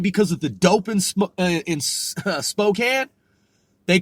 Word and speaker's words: Spokane: okay a and E some people call Spokane smoke cane okay even though it's Spokane and some people might who if they're unfamiliar with it they want to pronounce it Spokane it's really Spokane so keep in mind Washington